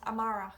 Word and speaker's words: amárach: Today is inu and tomorrow is amara.